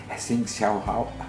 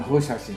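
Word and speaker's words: 侯孝贤: I don't know how to pronounce it. Xing Xiao Hao. Hou Xiaoqian. Hou Xiaoqian, that's it.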